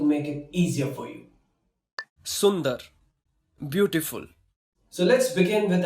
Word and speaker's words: सुंदर: Yes, so today I'm going to tell you how you can pronounce these hard words, and don't worry, I'm going to make it easier for you. Sundar, beautiful.